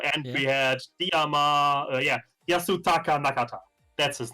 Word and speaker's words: Yasutaka Nakata: year some house artist last year we had natsukata jakarta i always get his name wrong it's the guy who produces uh capsule